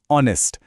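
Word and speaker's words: honest: H silent, आवाज है ऑनेस्ट, एक वॉवल साउंड, तो एन ऑनेस्ट पर्सन।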